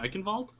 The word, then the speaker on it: Eichenwald: I might have been a little bit distracted by reading the old Razzle Dazzle complain that I was not pronouncing the German W as a V.